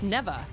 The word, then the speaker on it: Neva: neba it is nea I was thinking she pronounced it slightly differently but man she comes out like my third hit it's neeva that's crazy oh forget about that gosh dang